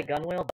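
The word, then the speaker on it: gunwale: stones stowed solace gun i want to say gun wheel but i think it's gunnel that sounds nautical uh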